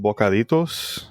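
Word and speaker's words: bocaditos: It's called bokaritoss. You know what that is? Nope. Dang. Spell it for me.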